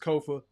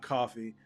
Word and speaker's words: Kofa: Once again, I've been your humble host, Kofa, K-O-F-A, not coffee, not, not Kofi, or any variation thereof. Kofa rhymes with sofa.